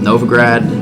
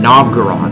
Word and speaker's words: Novgorod: we're at war with novograd or no not no it's not an open ground i keep pronouncing wrong novgorod if we're at war